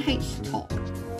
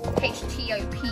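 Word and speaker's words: htop: also let's just run H top I think that's how you pronounce it yeah so this is HT o p or H top however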